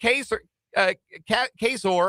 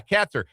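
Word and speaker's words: Kaczor: Nate Queser Cesor, I think was how you pronounce his name. Katzer. That's right. Yes. He was he was with my team. Yeah. Katzer.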